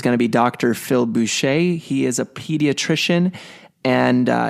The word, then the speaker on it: Boucher: Phil Boucher, and his last name is spelled with Boucher. The ER is kind of silent there.